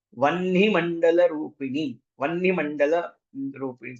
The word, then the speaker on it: वह्नि: और जिनको वहनी बोलना नहीं आता, ह के नीचे न की मात्रा आता है, वह्नि मंडल रूपिणी, तो अब जिनकी प्रोनाउंसिएशन ठीक नहीं है वो लोग बोलेंगे वही मंडल रूपिणी, ना तो खाई जाते हैं।